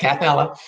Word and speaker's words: Kathella: I Well, could be even be saying it wrong. no, that's correct, Kathella.